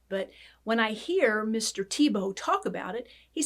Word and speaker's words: Thiebaud: name of wayne tebow the way it's spelled and the way you say it are very different but it's not pronounced the way it looks here it's pronounced tebow wayne tebow was born in 1920